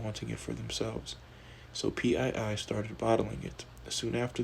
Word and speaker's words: Pii: Enter the now infamous Chef Carly PII, pronounced P, and her pink sauce.